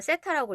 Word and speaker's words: 세타: 자, 얘를 뭐라고 읽으냐면은 세타라고 읽어요.